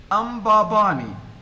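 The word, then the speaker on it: Mbabane: the first syllable is so the first syllable which is made up which is which is uh the sound m m is not a vowel it is a consonant but it is acting as a vowel here ambabani so this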